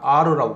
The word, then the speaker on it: are: 이때 이게 아라고 발음하면 안 됩니다. 아르라고 발음합니다.